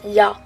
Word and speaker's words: ja: et ja en fait normalement ça se prononce ya donc en fait il